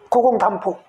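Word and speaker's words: 古公亶父: 고공담보. 이거 보라고 읽어요. 부자로도 쓰는데 하여간 보라고 읽는데 이런 것들이 하여간 이제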